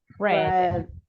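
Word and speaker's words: read: Remember, this one is the same, but we just changed the pronunciation. Red.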